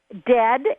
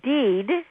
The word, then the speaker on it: dead: Dead, it's said like bed. It's not like bead. So bead is B-E-A-D, whereas dead is D-E-A-D. And for goodness sake, you don't want to call it deed with two E's.